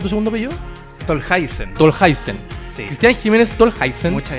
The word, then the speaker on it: Tolhuizen: ¿Está bien pronunciado tu segundo apellido? Tolhuizen.